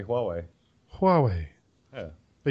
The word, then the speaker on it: Huawei: how to say Huawei Huawei yeah but you kind of ditch the H and it's more WWE yeah kind of kind